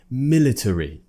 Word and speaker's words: military: there we would say military military Tory now that's actually really really uncommon and this is usually the case with these little schwarz which appear usually we just don't pronounce them it's more common to